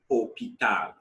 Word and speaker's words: hôpital: L'hôpital, the H is silent, remember. Hôpital, l'hôpital, hospital.